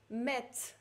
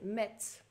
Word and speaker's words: Metz: Ensuite, Metz. Z читается на конце, это город во Франции. Metz.